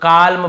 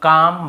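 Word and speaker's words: calm: बोल देते हैं बहुत काल्म बालम पाल्म नहीं होगा काम बाम पाम और आमंड ऐसे आलमंड आलमंड नहीं पढ़ेंगे ठीक है आमंड व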